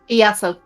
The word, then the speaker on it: Iaso: Iaso. Yeah. So how do you spell that? Is that with a silent I? Yes.